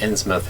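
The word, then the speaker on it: Innsmouth: into mouth ryan smith i've heard both pronunciations i think i think insmith is probably the correct one yeah i don't think it's mouth yeah but i could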